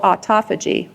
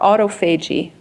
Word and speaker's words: autophagy: And it's a process called autophagy or autophagy, whichever you prefer. Either pronunciation is fine.